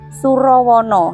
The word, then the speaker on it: Surawana: Nah, jadi ee Candi Surawana ini Surawana eh Surowono. Nah, itu ya kalau penulisannya itu Surawana ya. Tapi mungkin e untuk dibacanya itu Surowono ya.